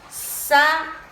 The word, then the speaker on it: saúde: Por exemplo, saúde. Saúde. O U tá com acento agudo, então ele já me indica que aqui já é a sílaba tônica.